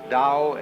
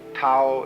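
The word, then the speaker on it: Tao: all the Dao t-a-o pronounced Dao in the Mandarin dialect Tau in The Chiang Hai dialect toe and the Cantonese dialect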